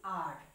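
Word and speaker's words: hour: for our yes here the H is silent and we are pronouncing our okay so here the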